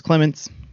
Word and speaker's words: Clements: Nope, it's Clements. Not a lot of emphasis. Clements. All right. Put the emphasis on the right syllable.